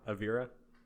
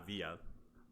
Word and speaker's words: Avira: say Avira. Avia. Not Avia. There's an R. It's not an L.